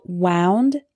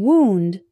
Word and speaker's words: wound: my finger wind wind and finally we have wound and wound wound is the past tense of wind meaning